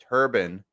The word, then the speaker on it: turbine: mish here is also calling it a turbine because in the power generating industry it's referred to as a turbine even though it is turbine so uh no it's not a it's not a mispronunciation when you hear me saying turban and no i am not talking about headwear i am talking you